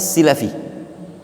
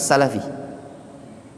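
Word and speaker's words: al-Silafi: lihat di situ Q Hafiz assilafi itu bacanya silafi Ya bukan Salafi Ah tapi itu tulisnya Salafi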